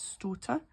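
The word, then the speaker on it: stoater: shorts um so starter some of them you would think that would be pronounced daughter but it's not it's stutter and that means an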